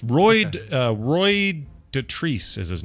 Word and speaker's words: Dotrice: Roy Dotrice. Roy, what'd you say? Roy G. Biv. No. Roy Dotrice, Dotrice. Yeah, like Dot Rice.